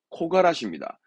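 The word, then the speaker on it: 木枯らし: 발음 조심하세요. 이때는 앞에 코입니다. 키가 아니라 코가라시입니다.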